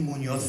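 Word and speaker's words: Muñoz: It's Munoz. I'm from Australia. That's Munoz in the sense of that's the Australian anglicised pronunciation.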